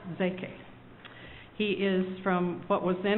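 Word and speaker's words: Szekely: Now, you spell his name S-Z-E-K-E-L-Y, but it's pronounced Zeke.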